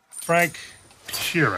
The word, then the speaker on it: Frank Sheeran: Frank Sheeran. Am I saying that right? Yeah, you said it right.